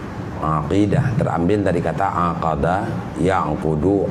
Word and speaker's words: aqidah: Bacanya ain ya, aqidah. Bukan akidah, bukan aqidah, tapi ain, aqidah.